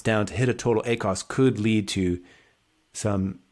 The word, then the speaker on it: ACoS: i say i'm gonna i decided i'm gonna accent i'm gonna change the accent on the syllable so a a cos acts on the first syllable is is a add cost of sales a cots if i emphasize that t in there on the second syllable um but yeah with